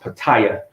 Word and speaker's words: Pattaya: Patty it at Patty and Beach where it's pronounced Pattaya Italia okay yeah it's pronounced but I it